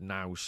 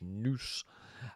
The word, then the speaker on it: nous: And this is where I formally said nouse. I mispronounced it. It's more like a Scottish noose.